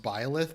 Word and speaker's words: Byleth: I think it's pronounced Byleth, but I always pronounced it Blythe. Probably because I grew up with my mother reading me Anne of Green Gables, and like one of the main characters in that was Gilbert Blythe.